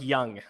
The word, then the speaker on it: Jung: uh that's my advice Justin says uh pronounced like young so it is I